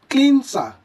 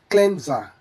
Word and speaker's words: cleanser: Learners often assume the S should sound like S due to spelling. But it should be noted that this word comes from cleanse. So it should be pronounced correctly as cleanser. Cleanser. The S naturally shifts to a Z sound in English, making it smoother to say cleanser.